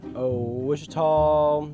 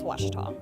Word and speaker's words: Ouachita: Wichita. Achita. Ouachita. Is it pronounced Ouachita? Searching for Ouachita Baptist University. Back in Texas, everybody pronounces it Wichita, but really, it's Ouachita.